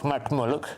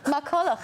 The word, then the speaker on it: MacCulloch: MacCulloch. Not MacMulloch. MacCulloch, I'm so sorry.